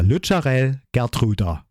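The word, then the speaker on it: Lutsharel Geertruida: In this episode, you learn how we pronounce the name of our latest Dutch edition. So it's now Lucharel Gertruda.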